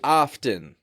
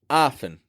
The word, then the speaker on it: often: the second syllable now the sound of that word does not match the spelling that word is spelled with a t right it looks like it should be often but we reduce that